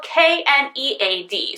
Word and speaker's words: knead: And it's spelled K-N-E-A-D. So it's not knead like I need a piece of pizza, but it's knead as in you're moving and mixing the clay together in your hands.